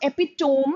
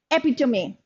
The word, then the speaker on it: epitome: Khan is the epitome of perfection it's not epitome it is pronounced as epitome I hope you know this word hi hi